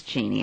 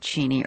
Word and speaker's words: Cheney: I said Uncle arv is it cheny or is it Cheney and he said my dear it's Cheney and I said oh